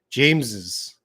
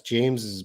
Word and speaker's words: James's: okay we got two how should we pronounce james's best friend james james's best friend i would say that's james's best friend james's james's james's james's james's best friend yeah james's best friend james's